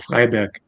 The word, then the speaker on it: Freiberg: The name is Eskifo Freiberg. What? It's I don't know. it's tough. I It's don't know tough. how to pronounce that. It's similar to Freiburg, the team in Bundesliga, but it's Freiberg.